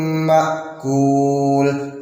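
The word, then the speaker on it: مأكول: Faja'alahum ka'asfin ma'kul. Ini mutlak pakai kaf, nggak boleh pakai kof.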